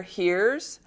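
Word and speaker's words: hir: There's ze, here, heres, where the ze is usually pronounced with the long e, and here, h-i-r, is usually pronounced like the English word here.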